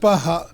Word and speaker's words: Bach: Pronounced Baha, Cafe Bach.